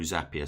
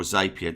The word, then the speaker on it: Zapier: also configure it through Zapier. So or Zapier, depending on how you say it.